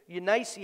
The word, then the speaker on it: Eunice: first in your grandmother lois and your mother eunice unice actually it's pronounced and i am persuaded that in thee